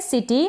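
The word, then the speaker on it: city: और लास्ट में आप याद रखें अगर वाई आता है जैसे कि सिटी है। तो इस वाई का उच्चारण इस तरीके से बड़ी ई के रूप में होता है।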